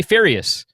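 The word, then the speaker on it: Fotiu: picture he said Joey photius but whenever you hear Joey say his name he's like hey I'm Joey furious yes so is he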